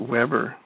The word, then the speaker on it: Webre: got to ask you, is the W in your last name pronounced like a V? No, what this is a Louisiana French name. It's a and so we just pronounce it Weber.